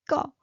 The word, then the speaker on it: 꺼: And then 꺼, high pitched, 꺼. And it means turn up. So 꺼, high pitched.